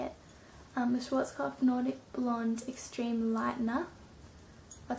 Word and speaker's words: Schwarzkopf: I used the Schwarzkopf, I think that's how you say it, the Schwarzkopf Nordic Blonde Extreme Lightener.